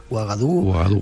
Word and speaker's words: Ouagadougou: Ouagadougou. Ouagadougou.